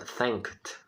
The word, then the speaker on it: thanked: Um detalhe interessante na palavra thanked é que a segunda vogal ela não se pronuncia. É uma espécie de silent letter, que assim chamamos, ok?